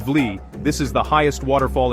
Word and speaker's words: Wli: Pronounced Wli, this is the highest waterfall in Ghana, and trust me, it's worth the journey.